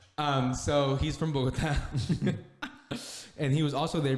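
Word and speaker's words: Bogotá: it right i'm sorry is that the correct pronunciation that's actually the correct bogota right um so he's from bogota and he was also there visiting um but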